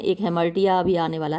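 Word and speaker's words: hamartia: Which is called हेमर्टिया, जिसको कि हेमर्टिया बोलते हैं। कुछ लोग इसको हेमर्शिया भी बोलते हैं, लेकिन जो प्रॉपर प्रोनाउंसिएशन वो हेमर्टिया ही है।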